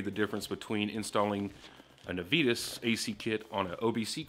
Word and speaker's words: Navitas: Now, guys, it's pronounced Navitas, not Navitas or Navitas or Navitas, which I do kind of like the Navitas. It's Navitas.